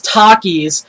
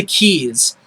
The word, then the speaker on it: Takis: in Arizona I eat Takis all the time I buy it you a whole lot I love it it's a great Chip he calls it teis the guy can't even pronounce anything right so Michael call shame